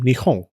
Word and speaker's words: Nihon: Over time, the P sound softened to become Nihon. Around the Edo period, it softened even more to become Nihon, the pronunciation used today.